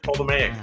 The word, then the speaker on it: Ptolemaic: She was born into the Ptolemaic dynasty of Egypt, or if I don't pronounce the T, Ptolemaic dynasty of Egypt.